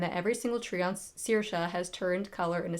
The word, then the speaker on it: Saoirse: to part of the audiobook, and it's called Saoirse, but it's spelled Saoirse.